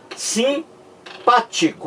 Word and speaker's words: simpático: é assim gente ó simpático ou olha que é assim que se pronuncia você vê aqui que o m não é pronunciado chão e não é